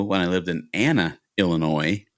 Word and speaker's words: Illinois: I used to go when I lived in Anna, Illinois with the s is silent and in the southern Illinois.